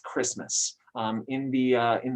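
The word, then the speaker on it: Kiritimati: Uh just to spoil everything Jessica was going to say, it's usually pronounced Christmas um in the uh in the Gilbert language uh that that those uh consonants are pronounced in that way.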